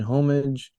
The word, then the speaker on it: homage: I began to wonder if Cameron was using Avatar as the medium to produce an homage to the films that, huh? You have to say it like you do in France.